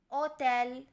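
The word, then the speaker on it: hotel: की तरफ बढ़ते हैं ओटेल ओटेल जनी होटल एच इसका साइलेंट है इसलिए इसे तेल परा जाता है अगला है स्टोरिया स्टोरिया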